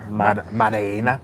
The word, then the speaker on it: Maddalena: Magdalena. How do you say? Maddalena. Della Maddalena.